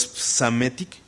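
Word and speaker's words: Psamético: Y llegó un emperador que está raro su nombre, pero es Psamétic, como psicología, ¿no? Que se escribe PS, es Psamétic, ¿no?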